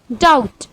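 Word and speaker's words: doubt: यहाँ पर टी बी के बाद आ रहा है, इसीलिए यहाँ पे बी साइलेंट होता है और इसको हम प्रोनाउंस करते हैं डेट। डाउट।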